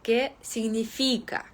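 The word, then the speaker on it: significa: в ньому теж звичайні Тому треба казати ке сильний фійка Що означає наголос на складі фі Ми також згадали про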